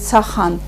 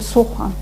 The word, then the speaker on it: сохан: Нельзя говорить «сахан». Мы говорим «сохан».